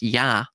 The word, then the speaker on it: Ea: Akkadian, it's EA, which is pronounced Yah, right?